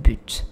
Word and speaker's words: but: I'll say un but. Even though there's no T E at the end, right? I shouldn't. Right? It will make more sense if I don't pronounce the T, but I do.